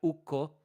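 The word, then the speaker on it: Ukko: finished language is that a double consonant is pronounced like it's hyphenated so so even if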